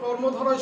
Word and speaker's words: কর্মধারয়: কর্মধারয় সমাস। খেয়াল করবো অনেকেই ভুল করে কর্মধারায় বলে, কিন্তু আসলে মূলত কর্মধারায় না, কর্মধারয়, এটা খেয়াল করবে, কর্মধারয় সমাস।